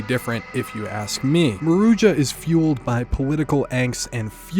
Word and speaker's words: Maruja: Is it Maruja? Maruja? I was saying Marua before. Apparently, that's wrong.